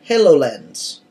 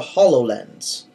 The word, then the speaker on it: HoloLens: on the list is the hello lens or the hollow lens depending on how you like to pronounce it Microsoft has released